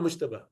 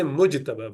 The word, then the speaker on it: Mujtaba: you know, someone called Mushtaba. Yeah, what's the name? Ever heard someone called Mushtaba? Yeah. Say Mujtaba with Jim.